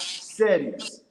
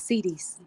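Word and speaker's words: cedis: in US dollars and not settings. Let me know if I'm pronouncing that right, dog. That must be the uh gunner word for uh dollars. Yeah, it's oi. Huh? It's cidis. Cis.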